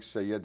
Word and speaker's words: Seyyed: It's Seyyed in Arabic, Seyyed in Persian.